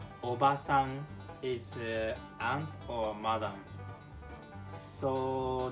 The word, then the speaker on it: おばさん: The second one, obasan. Okay. Okay. 3, 2, 1. Obasan. So it's a little bit shorter.